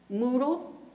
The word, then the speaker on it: Moodle: Moodle, it rhymes with poodle.